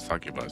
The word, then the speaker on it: succubus: That's a succubus. That's how you pronounce it. Not like the title.